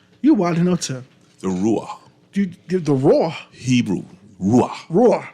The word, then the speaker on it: Ruah: The Ruah. The Raw. Hebrew. Ruah. Ruah. R-U-A-H. Do we pronounce Ruah.